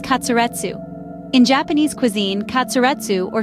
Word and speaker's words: katsuretsu: The Japanese pronunciation of cutlet is katsuretsu.